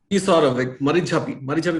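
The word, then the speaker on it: Marichjhapi: दीप हल्दर की जो पहली किताब है blood island N oral history of द मरीचपी massacre, ये शब्द का सही उच्चारण क्या है दीप? मरीचपी मैसेकर, एकदम सही बोला।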